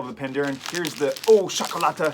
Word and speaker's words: Ooh Chocolata: I got the words here, and basically it's pronounced Ooh Chocolata, which means Welsh gold.